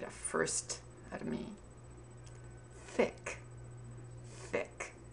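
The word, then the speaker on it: Thicke: the name thick Allan thick you pronounce thick by putting your upper teeth on your tongue Alan thick thick I'm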